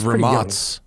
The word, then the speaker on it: Rimac: Familiar enough to know it's pronounced Ramats. Ramats, he came on and I was like, how do you say this, Rimac? And he's like, oh, it's Ramas or whatever.